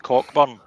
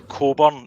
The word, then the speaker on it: Cockburn: But he actually got fed up with folk saying Steve Cockburn, that he changed his name on the gal in AD to Coburn.